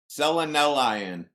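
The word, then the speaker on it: selenelion: So easy way to remember it is selenelian. Selenelian. That's it. All right, I typed it in there. To make it easier for you to remember how to say it. Selenelian. It's spelled like Selenelian. Instead of Celine Dion, it's Celine.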